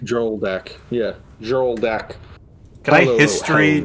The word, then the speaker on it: Hjoldak: pronounce Hjoldak? H-J-O-L. Hjoldak. Joldak. Yeah, Joldak.